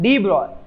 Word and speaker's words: de Broglie: ठीक है, क्या है इसका प्रोनाउंसिएशन, क्या है? डी ब्रॉय।